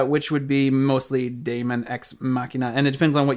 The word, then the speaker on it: Daemon X Machina: And then we have all just announced for 2019, Daemon X Machina, and I am terrible at pronouncing that.